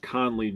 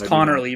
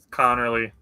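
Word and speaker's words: Conerly: A much easier name to say Josh Connley Jr. out of Oregon. You mispronounced it. It's Connorly, bro. Connorly.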